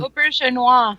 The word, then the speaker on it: Auberjonois: Rene Auberjonois, I don't know how to pronounce his last name. Auberjonois.